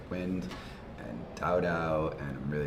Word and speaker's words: WYND: about the future of inner chain protocols like wind and da and I'm really excited about interchain Dows like Juno very cool can you give a quick intro of what wind Dow is yeah so wind Dow is w